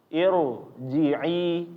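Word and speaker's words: ارجعي: Irji'i, Jadi jangan bacanya irji'i. Nah, ini keliru ya kalau bacanya irji'i. Tapi irji'i ya. Ini dibacanya secara tebal.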